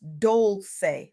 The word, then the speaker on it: Dolce: Welcome to the Soft Girl Era podcast, hosted by Dolce, pronounced Dolce, like sweet softness whispered in French.